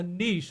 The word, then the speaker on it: niche: try to create a niche. I think that's how the French pronounce it. We pronounce it niche, but let's all be French tonight and say niche.